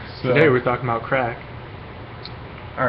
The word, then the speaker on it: Craic: crack yeah they're like today we're talking about crack all right should I should I just mention real quick that it's pronounced crack but we're just going to call